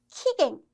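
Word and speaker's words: 期限: 자, 예를 들어서 여기 겐자, 한자가 아니라 사이 간자가 들어가면 키캉이라는 말이 돼요. 키캉. 기간을 의미합니다. 기간. 언제부터 언제까지인지 이 기간을 의미하는 말이 돼버려서 키캉이라고 들으시면 안 돼요.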